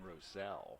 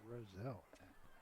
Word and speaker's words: Rosel: That is actually Owen Rosel. The way that's pronounced Charlie just my apologies.